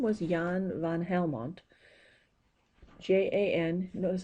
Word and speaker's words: Jan: a doctor approximately 1600s and his name was Yan van Helmont JN that was a spell Jan but pronounced yang Yan van Helmont in he decided he was